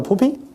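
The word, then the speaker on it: phuppi: So now that would be the chacha and the pupi, the first two. Pupi, that's how properly pronounced. So English speakers don't get confused with foul language.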